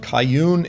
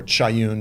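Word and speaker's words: כיון: with the worship of Kayun and Succoth. Now, some people say Kayun, or Chayun, there's different ways that it's pronounced, is actually the Hebrew pronunciation of the Persian name for Saturn, for the god Saturn.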